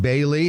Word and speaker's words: Bailly: reach out to ID Bailey it's spelled EI D and Bailey is spelled not the way it sounds it's ba AI l